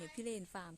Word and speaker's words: พิเรนฟาร์ม: ชื่อ ฟาร์ม เนี่ย นะ เรา ก็ พยายาม อ่าน ว่า เรา อ่าน ผิด หรือ เปล่า พี่ เรน ฟาร์ม แล้ว ก็ ถาม เขา ว่า เฮ้ย เรา อ่าน ถูก รึ เปล่า เนี่ย พี่ เรน ฟาร์ม เขา บอก ว่า ถูก แล้ว เขา บอก ว่า